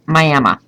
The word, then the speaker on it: Miami: miam Florida Miami Oklahoma they say Miami Florida in Oklahoma it's Miama spelled the same don't ask me why